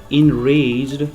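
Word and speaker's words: enraged: इसके सिनोनिम्स अगर देखें तो इनरेज्ड, इसे एन नहीं पढ़ेंगे बल्कि इनरेज्ड प्रोनाउंस करें, इनरेज्ड।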